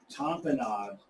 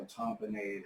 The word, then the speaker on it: tamponade: Tamponade, or tamponade, however you want to pronounce it, means to compress.